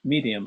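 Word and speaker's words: Maryam: Um, with the film itself, the Yasmin Medium, I think that's how you pronounce her actual name. Miriam. Medium. Okay. Medium. It's like Mary. It's Mary in Arabic.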